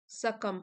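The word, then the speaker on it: succumb: yet they refused to सकम सकम B silent है सकम टू सेट बैक्स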